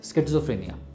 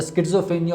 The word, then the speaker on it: schizophrenia: an illness called as schizophrenia. Now the schizophrenia or schizophrenia, different people pronounce it differently.